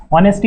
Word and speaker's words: honesty: Honesty has to be there, H is silent यहाँ पे आप देखिएगा, ऑनेस्टी नहीं पढ़ना है, इसको ऑनेस्टी पढ़ना है।